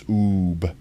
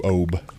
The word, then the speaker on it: Oob: It's oob with an ooblout, so it's like got the long vowel sound, so it's oob as opposed to obe.